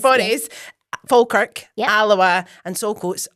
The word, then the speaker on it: Forres: It's not that. So it's Forres. Forres.